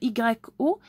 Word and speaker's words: yo: Ça s'écrit comme Y-O, mais ça se prononce yo soy. Comme ça, D-J-O, yo soy.